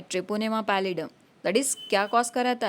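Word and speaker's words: Treponema pallidum: तो syphilis cause होता है बाय ट्रेपोनेमा पैलिडम. किससे? ट्रेपोनेमा पैलिडम. ट्रेपोनेमा पैलिडम.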